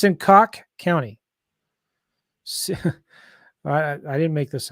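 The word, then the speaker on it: Cocke: How do you say it? Cook. Coke County. I got a client that's there we go. Last name's Coke. So Coke. It's Coke County.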